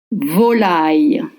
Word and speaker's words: volaille: Start with the vo with a low pitch O, then L, then I.